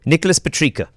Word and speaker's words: Nicholas Petricca: Nicholas Petricca.